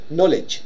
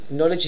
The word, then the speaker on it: knowledge: في كي أول شيء a silent letter we actually write but we don't pronounce برابو knowledge knowledge هي المعرفة Okay, so knowledge.